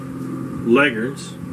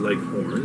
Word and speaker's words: Leghorn: Cold, if you live in the cold areas, there are chickens like the Leghorns. She says Leghorns. I don't say it. I spell it that way.